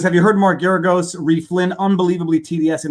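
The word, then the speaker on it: Geragos: my advertising pitch for marcaragos if you want to lose hire marcaragos well there's nobody loses like he does i think you're mispronouncing his name also i think it's mark that may be deliberate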